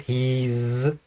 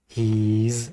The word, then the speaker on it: he's: pronounce it I'm he's this becomes a z sound he's he's a long e he's eating she's she's again